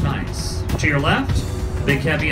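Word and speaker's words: gneiss: guys gnv I SS scientific name is pronounced nice to your left big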